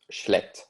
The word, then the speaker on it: schlecht: It's schlecht, so it's that sort of soft hiss sound at the beginning, and then sort of a more hard CK sound towards the end.